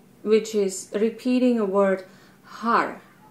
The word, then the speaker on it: har: one is mantra which is repeating a word har h a r over and over and over word or how it's pronounced is you know it's powerful it's like